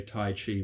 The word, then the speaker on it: Tai Chi: Tai Chi Chuan, okay, Tai meaning extreme, okay, Chi, or in English they may just say Tai Chi, but it's actually pronounced Tai Chi. Chi means a pole, okay, like North Pole or